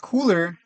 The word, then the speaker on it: KULR: uh too down bad it's pronounced cooler color so people keep color